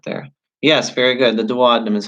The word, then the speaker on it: duodenum: talked about that there yes very good the duodenum is how you say that the duodenum all right excellent good job so write that